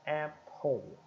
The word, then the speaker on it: Apple: conhecia a Apple né é um som glotal de e e a e o som do p e o som do L Limpo ó Apple Apple Apple tá então